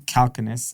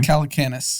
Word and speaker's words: Calacanis: a guy named jason calconis i believe how you pronounce his name calacanis calacanis uh he does a podcast